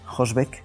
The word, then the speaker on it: Hosbec: García secretaria general de hosbec Qué tal Hola Qué tal Muy buenos días buenos qué tal Jorge he dicho hosbec pero es hosb la H es muda pronuncia Sí sí me ha